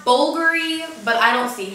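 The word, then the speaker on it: Bvlgari: the apparently it's pronounced Bulgari but I don't see how because that's a v not a u but whatever it is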